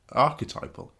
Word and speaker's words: archetypal: Archetypal. Oh, sorry.